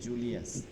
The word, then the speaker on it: জুলিয়াস: বলুন হুজুর আপনার নামের নামের উচ্চারণটা কি হবে আমার নাম জুলিয়াস ও জুলিয়াস হবে জুলিয়াস জুলিয়াস আচ্ছা আপনি একটু